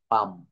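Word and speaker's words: palm: না তার ব্যাখ্যাটা হচ্ছে এল প্লাস এম পরপর থাকলে এবং পরে ভাওয়েল না থাকলে এল অনুচ্চারিত থাকে এল কি হয় অনুচ্চারিত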